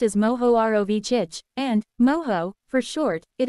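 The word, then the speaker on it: Mohorovičić: material this layer is called the mahorovichik discontinuity pronounced as moho ROV chich and moho for short it is named for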